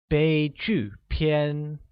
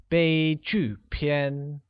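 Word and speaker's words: 悲剧片: tragic movie translates to bei Qiu PN bei Qiu PN is pronounced using a high level tone on e a falling tone on you and a high level tone on a once again it's they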